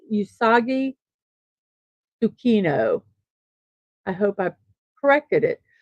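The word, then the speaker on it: Usagi Tsukino: a young girl named auki sukino who received a brooch that transformed her into the titular Sailor Moon and yes I apologize for saying that name wrong I believe it's usagi sukino I hope I corrected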